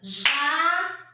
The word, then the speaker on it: jacarandá: Jacaranda. A última sílaba é acentuada e ela é a mais forte.